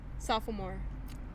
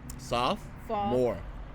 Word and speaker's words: sophomore: school how is it sophomore is just two syllables sophomore what saw soft fall more what soft more there's no fall no soft sophomore there you go here we go what's